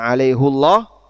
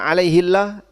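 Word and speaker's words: عَلَيْهُ اللَّهَ: Dan tadi sudah kita sebutkan kenapa hafaz membacanya dengan alaihullah dan itu memang tidak sesuai dengan qiraah jumhur. Tapi semuanya boleh. Dan kalau Bapak baca alaihillah tidak sampai masuk dalam kategori qiraah syadzah atau qiraah yang nyeleneh yang harus ditinggalkan.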